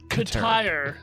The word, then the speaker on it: Keter: It's pronounced Katire.